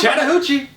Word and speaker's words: Chattahoochee: It's Chattahoochee. Maybe we're pronouncing it wrong.